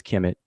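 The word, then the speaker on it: Kemet: scholars these five glyphs is transliterated as KMT we pronounce it as Kim it and it means the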